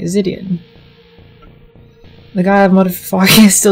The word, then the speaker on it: Zidian: I said your name right, Zidian.